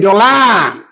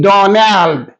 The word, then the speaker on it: Donald: He said Dolan, Dolan. His name is Donald, Donald.